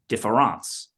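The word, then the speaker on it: différance: difference combines this now he takes that word and he takes the E out and he puts an A in but pronounces it the same way defance why does he change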